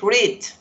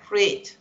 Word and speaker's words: read: Por eso aquí les está demostrando que este es read, con I, con una I larga, read. Y este es read, read, sin embargo se escribe igual.